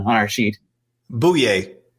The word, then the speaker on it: Bouye: put this on I put that in the pronunciation on our sheet boo yay boo yay all right boy yay oh yay oh yay